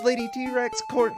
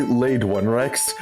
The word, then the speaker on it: Lade1rex: Okay, well, thank you so much, Lady T-Rex. Is it Lady T-Rex? It's actually Laid One Rex.